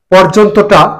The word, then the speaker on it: পর্যন্ত: পর্যন্তটা সঠিক উচ্চারণ হচ্ছে কি হবে? পর্যন্ত। কি হবে? ওকার হবে রেপের কারণে। পর রেপটা এখানে র হিসেবে পর, পর জন তো, পর্যন্ত। সঠিক উচ্চারণ হচ্ছে পর্যন্ত।